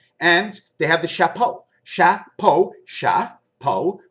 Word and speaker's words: chapeau: And they have the chapeau. Chapeau, chapeau. Po is skin, cha is a cat.